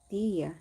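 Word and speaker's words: Dehya: Dia, that's how you pronounce her name.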